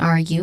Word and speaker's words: argue: Pronunciation wise, I'm going to focus on argue, which has a stressed syllable in the first one, R, and then Q, which has a long U sound.